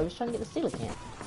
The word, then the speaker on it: coelacanth: Well, I didn't mean to, I was trying to get the coelacanth. By the way, there's the correct pronunciation of that fish's name. Some people call them coals, and those are not just like that.